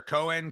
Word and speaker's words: Cohen: privilege to interview cohan and am i pronouncing your last name correctly when I say that yeah sure Cohen Cohen co co hen Cohen